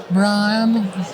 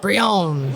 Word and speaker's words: Brianne: from the tournament organizer brianne bryan watson it's pronounced brionne looks like venom's home